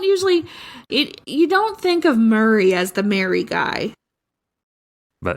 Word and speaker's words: Murray: the word M-E-R-R-Y is pronounced the same as Murray, M-U-R-R-A-Y.